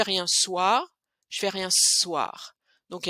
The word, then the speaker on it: soir: Je fais rien ce soir. Et aussi, notez bien comment je prononce soir. Je prononce pas soir, mais soir. C'est comme s'il y avait deux sons.